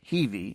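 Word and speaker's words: Hiwi: The Heiwi, pronounced Heivi, and a contraction of the word Hiltz Villiger, meaning someone willing to help the enemy or collaborator.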